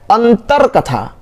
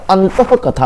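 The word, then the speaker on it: अंतःकथा: अंतर कथा, अंतर कथा कोई वर्ड नहीं होता, अंतः कथा होता है, ये होता है, आपको विसर्ग लगाएंगे, अंतः कथा होता है।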